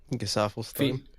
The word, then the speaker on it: Gesaffelstein: Gesaffelstein.